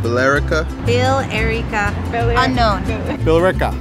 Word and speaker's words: Billerica: Billerica. Billerica. Billerica. Unknown. Billerica. They don't sound like they're spelled.